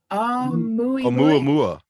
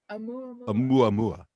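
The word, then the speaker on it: ʻOumuamua: I think you pronounce it Oumuamua. Oumuamua.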